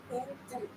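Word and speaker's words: Yên Tử: This is, so this is a mountain called Intu, but you spell it Y-E-N-T-U.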